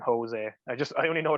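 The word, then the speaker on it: José: i learned like um they pronounce their js in portuguese but they don't in in spanish it's like a hitch like a yeah so like jose and jose i just i only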